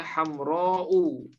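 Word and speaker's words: حمراء: tergolong isi atau misalnya kalimat hamroh diakhiri Hamzah seperti ini Hamzah sebelumnya ada Alif kemudian di akhirnya ada Hamzah nah ini bacanya hamrou ya Oke atau misalnya seperti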